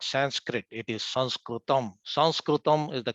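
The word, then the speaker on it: संस्कृतम्: it is actually not sanskrit it is sanskrit sanskritim is the correct way of pronouncing it and it actually stands for two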